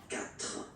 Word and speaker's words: quatre: put this U, okay, so you get this Q, U, A, sound that you will pronounce is K. Okay? Quatre.